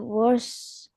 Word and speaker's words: worst: I want you to really pronounce the T.